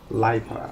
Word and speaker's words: Lipa: Lipa. I was pronouncing that shit all wrong last game.